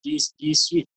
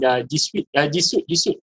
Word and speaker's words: G Suite: Tapi pronunciation dia sweet, manis.